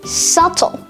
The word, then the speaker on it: subtle: debt doubt and subtle now in the pronunciation of these three words the b sound ba is completely absent that's because the b is silent however there are quite